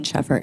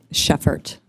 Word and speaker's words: Sheffert: with an O at the end, hyphen Sheffert. And what was the hyphen what? Sheffert.